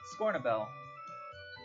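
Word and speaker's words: Scornubel: Scornabel. Can you spell that? Scorn a bell? Scorn, U-B-E-L. BL. B-E-L, like a bell.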